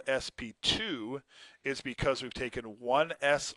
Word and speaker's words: sp2: you can also have this is not pronounced SP squared this is called SP 2 and at an sp2